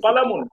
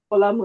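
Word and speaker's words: قَلَمٌ: কলামুন একটি কলম। কালামুন কলম একটি কলম। কারো কারো একটু টান হয়ে যাচ্ছে। কলামুন একটি কলম। খুব তাড়াহুড়ো কালামুন একটি কলম। তাড়াহুড়ো না, কলামুন এরকমও হবে না। কালামুন একটি কলম।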